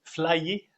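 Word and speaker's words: flyé: Flyer. Ça s'écrit comment?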